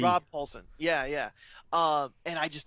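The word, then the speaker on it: Rob Paulsen: that's where I met Ron Paulson. Am I saying it right? Rob with a B. Rob Paulson.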